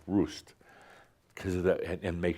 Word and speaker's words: Rust: R U S T but it's pronounced Roost because of the and make sure to say it's because of the storks.